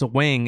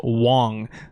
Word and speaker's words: Wang: Actually, he told us his name isn't pronounced Wang. It's actually pronounced Wong. So for now on, guys, when you guys make videos about Mike Wang, it's actually Mike Wong.